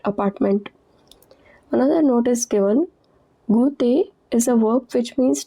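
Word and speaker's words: goût: Au t at the end is silent.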